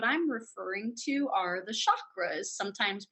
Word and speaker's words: chakras: energy centers what I'm referring to are the chakras sometimes pronounced chakras the word chakra is a Sanskrit word meaning